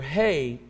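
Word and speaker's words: הא: hei and it's pronounced it has breath in it H is what we call it but it's the letter hei and in the Hebrew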